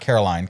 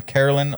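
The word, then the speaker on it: Karoline: Levit. So, not Caroline, Carolyn Levit. Yeah.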